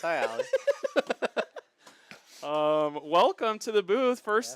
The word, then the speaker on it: Ioli: It was, I think it's pronounced aioli, and it made me laugh so No, it's Ioli.